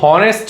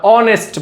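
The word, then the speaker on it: honest: এস হচ্ছে horrors কিন্তু শব্দের শুরুতে এই আছে কিন্তু তার উচ্চারণ এইচ হচ্ছে না। যেমন হনেস্ট বলো না অনেস্ট বল।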